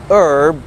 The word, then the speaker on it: herb: الاتش في الانجليش بتبقى سايلنت في honest، honor، hour، herb، زي herbal tea، وده في الامريكان انجليش يعني عيش بالاعشاب، herbal herbal tea.